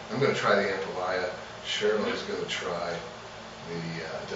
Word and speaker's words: ampalaya: We have got some fried and sauteed ampalaya. I say ampalaya, but it's say Ampalaya. Ampalaya. Oh, I said it right.